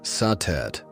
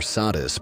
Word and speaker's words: Satet: Before the great names of Isis or Hatheror filled the temples of Egypt, there was satet pronounced satet or sadis by the Greeks.